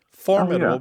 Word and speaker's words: formidable: And generally, in all of the English dialects, words that have previously been stressed on the first syllable are becoming stressed on the second syllable. Okay. So, it's not just integral becoming integral, it's also words like applicable becoming applicable. Formidable becoming formidable.